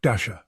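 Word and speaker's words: Dashjr: Knots is maintained by Luke Dasher. Yes, pronounced like Santa's reindeer.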